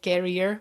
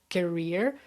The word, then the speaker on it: career: many, many times, and it's about the the accent that I shouldn't say carrier, but career.